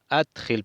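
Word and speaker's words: أَدْخِلْ: Udkhul adkhil, perdón, no udkhul, perdón. Aquí el verbo imperativo es adkhil, no udkhul, porque tiene hamza, entonces adkhil, un verbo de 4 letras, adkhil, adkhil, agrega.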